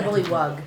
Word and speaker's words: bullywug: Bullywogs, bullywogs. Is it bullywog or bullywug? Yep. O or U? Yep. And like that You. one. U. Bullywug. Got it. Bullywug.